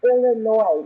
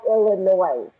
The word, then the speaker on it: Illinois: Because it's pronounced Illinois, not Illinois.